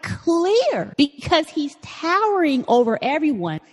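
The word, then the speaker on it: Klete: name his name is Cle Keller I think that's how you pronounce his first name it's kle e te he's a 39-year-old fella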